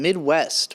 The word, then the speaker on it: MIDWXST: new song called shame from midwest but spelled with an x in there somewhere i'd never heard